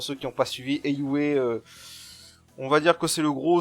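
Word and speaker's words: Heiyue: Ou alors je disais tout le temps Eiyu quand j'ai fait mon let's play Zero no Kiseki, mais apparemment le nom de leur organisation ça se prononce bien Eiyue.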